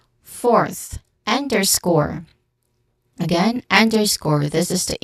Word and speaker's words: underscore: Um, you say the speaker underscored the importance of education for social change.